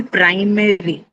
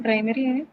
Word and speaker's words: primary: So now where is the stress? Pry.